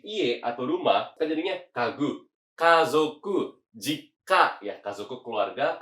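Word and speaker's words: 家具: Jawabannya yang mana cara bacanya? Yang betul adalah kagu, yaitu adalah perabotan rumah sendiri ya.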